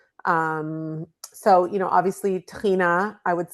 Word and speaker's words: tahini: Um so, you know, obviously tahini I would say is, you know, my friend Mike Solomon calls it the mother sauce of Israeli cuisine and you know, it rhymes with Adina so it's it it